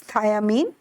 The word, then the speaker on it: thiamine: also known as thiamine and don't confuse it with thymine thiamine is B1 whereas thymine just right thymine is the base of DNA so the spelling is different it is thiamine and pronunciation is also different now coming over to